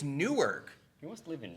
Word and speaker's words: Newark: like newark new jersey they pronounce it nerk it's not nerd dude it's newark he wants to live